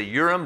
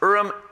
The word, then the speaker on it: Urim: have heard of the Ihram some people say Urim but it's pronounced Ihram and the Thummim the urn and the Thummim